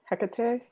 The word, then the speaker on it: Hecate: hottie as it were I'm gonna go with Hecate is that how you pronounce her name Hecate yeah yeah Tecate there you go cacao that's